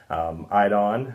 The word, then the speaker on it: Eidon: The one that we have at my home is by a company called Idon, and it's spelled EIDON, but we'll again put that in the information below.